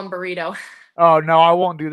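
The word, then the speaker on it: Brito: pronounce it is that am I saying that right burito yeah b r i t o burrito burrito okay okay awesome or if you're joking with him you can call him burrito oh no I won't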